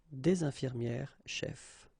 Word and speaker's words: des infirmières chefs: The only difference will be here in the liaison, because actually you don't pronounce this final S here or here.